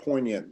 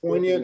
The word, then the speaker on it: poignant: The G is silent in poignant.